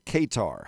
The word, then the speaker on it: Qatar: The House of Althani, the ruling house ofQatar or Katar, however you want to pronounce that, that little old nugget of a country, they own a more of London than King Charles does.